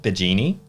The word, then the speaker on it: Bigeni: actually bill bill Noah saying um am i pronouncing your surname correctly the genie correct yeah it is correct okay cool yes